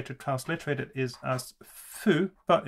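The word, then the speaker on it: ふ: translate it is as fu but it is pronounced in a way more in the middle between who and foo you might say so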